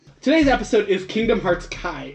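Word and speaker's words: χ: Kingdom a kingdom hearts chide as well as Kingdom Hearts try back cover I'm pretty sure let's pronounce Chi Chi yeah hi yeah X is the Greek letter Chi okay leave in part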